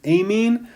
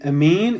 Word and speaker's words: amine: we have an amine sometimes people pronounce them a mean but I call it an amine and the generic formula